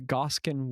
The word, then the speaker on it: Gaskán: And there's a little accent on the second A, because of course there is, because it's Zach.